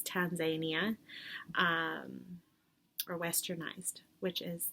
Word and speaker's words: Tanzania: like canada and tanzania i need to decide which way i'm going to say it properly which is tanzania um or westernized which is tanzania so um both canadians